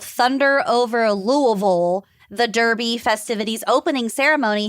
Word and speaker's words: Louisville: is to say it like you're drunk on bourbon. So just slur it.